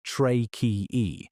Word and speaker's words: tracheae: They have a network of tubes called tracheae, pronounced tra-key-e, that run from holes along the sides of their body called spiracles directly into their tissues.